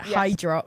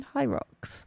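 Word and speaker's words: Hyrox: Hyros, but I pronounced it, how did I pronounce it? Hydrox. Hydrox. Yeah. She's like, "Do you know anyone who's um done a hydrox and actually enjoyed it?" And I was like, "Do you mean high rocks?"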